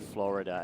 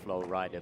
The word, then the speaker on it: Florida: to add we know that the state is called Florida and not flow Ridder the team is called